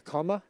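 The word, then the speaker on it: cama: A comma? A comma. That is a camel llama cross. Oh, how do you spell that? C-A-M-A. Oh, I thought you said comma. You know, like, you know, comma. It sounds like, yeah, like the punctuation.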